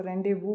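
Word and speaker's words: rendezvous: कौन सी इसमें correct spelling है? रेंडेव इसको रेंडेव पढ़ा जाता है।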